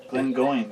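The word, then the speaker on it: Glengoyne: to pronounce it though it's uh glenn going it doesn't have an e it's silent e whiskey i uh last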